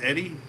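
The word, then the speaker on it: Edie: Yeah, my name is Eddie. E-D-I-E. Eddie. Why do I spell it like that?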